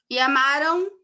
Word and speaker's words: amaram: E amaram, a gente não põe um O. Tanto que alguns, quando estão começando a aprender a escrever, amaram, escreve com A tio, né? A mesma coisa. A gente não grafa, mas a pronúncia diz que é um ditongo nasal.